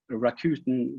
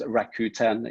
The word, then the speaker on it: Rakuten: And Rakuten, which is a Japanese trading company, I'm told that it's pronounced Rakuten in Japanese, but traditionally it's called Rakuten here on this side of the world.